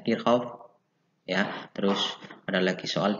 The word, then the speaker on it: Kirchhoff: Ya, namanya ada yang namanya energi listrik, ada daya listrik, ada rangkaian seri, paralel, kita selesaikan, ada hukum Ohm, hukum Kirchhoff, tulisannya Kirchhoff, bacanya Kirchhoff ya.